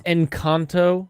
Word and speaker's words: Encanto: It's Encanto. It's Encanto. Okay. That's Encanto. how it's Respect pronounced.